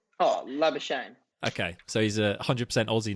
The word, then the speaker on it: Labuschagne: What pronunciation? Oh, Labuschagne.